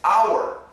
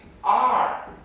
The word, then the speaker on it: our: It sounds exactly like A-R-E.